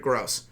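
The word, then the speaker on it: Grosz: sneak peek by the way the name is pronounced Jared gross well why don't you just spell it with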